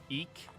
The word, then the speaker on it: Eek: trite no the sword e e eek the Eek the like eek the Cat eek the yeah all